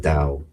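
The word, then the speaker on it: Tao: I pronounce it da I spelled t but uh I pronounce it dao but oh that is that that's what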